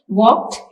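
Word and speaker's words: walk: इस्तेमाल किया गया है वॉक में एल साइलेंट है नाइफ में के साइलेंट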